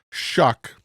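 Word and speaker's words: Shough: took Josh Allen was in Louisville for Tyler shuck yes that's how you say his name prod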